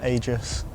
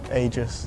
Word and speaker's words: Agius: I I say Aegis. Aegis. Ages.